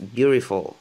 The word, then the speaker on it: beautiful: Et il y en a qui le prononcent beautiful. C'est comme un D, le T, c'est comme un D et R en même temps. Beautiful, beautiful. C'est un D en fait, mais qui ressemble à un R.